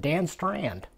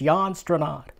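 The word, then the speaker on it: Jan Strnad: Jan stranad you know when I was a little kid I used to pronounce it Dan strand s-t-r-n-a-d can't be strand but that's how my mind worked it out but it's yawn strandon anyway uh and with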